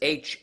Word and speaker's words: hummock: I was like, where the hell did you get a hammock? But it's Hummock. Hummock. Yeah, hummock.